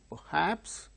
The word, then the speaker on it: perhaps: Perhaps, not perhaps. Yesterday we have dealt with, the other day, perhaps, no, perhaps. Why? R sound, when it is followed by a consonant sound, it is not pronounced. Here R is followed by H, so it is a consonant sound, therefore R is not uttered.